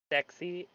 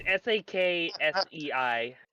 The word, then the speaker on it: Saksei: Sexy? No. So sexy. It's Saksei.